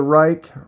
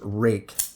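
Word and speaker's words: Rike: okay we have the Reich rake I keep saying that wrong I looked it up it's rui k e I think it's pronounced rake p801 cool little knife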